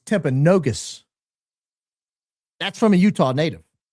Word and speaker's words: Timpanogos: Uh did CK actually go to Timpanogos? Oh, I learned it's not Timpanogos, it's Timpanogus.